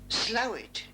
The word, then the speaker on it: Slaithwaite: The pronunciation of Slaithwaite is sometimes an object for fun. The correct one is as it was spelt in a document of the 1200s, Slathhuait. Slowit is for use in pubs and clubs, a dialect